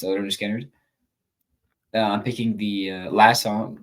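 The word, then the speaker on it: Lynyrd Skynyrd: six I'm picking um from Leonard skinnard uh pronounced leard skinnard I'm picking the last song which is free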